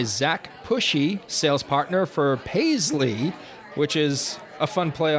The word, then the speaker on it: Payzli: Now we have the pleasure of being joined by Zack Pushy, sales partner for Paisley, which is a fun play on words.